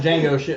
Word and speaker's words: Django: then Django and then Django with the D is silent had murdered him well